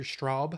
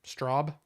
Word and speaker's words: Straub: King and uh Peter Straub I think that's how you say it like strawberry Straub and there is a